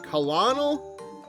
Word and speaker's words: colonel: really minor thing, but I keep forgetting why it is that colonel is spelled the way it is. Like, that does not look like it should be saying colonel. Like colonel.